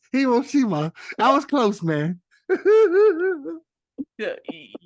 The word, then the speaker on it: Hiroshima: I'm gonna go with Hiroshima. Oh, dang. Ding, ding, ding. I was Kenny? close, man. Which one? There's no such thing as Fujima. It's Hiroshima.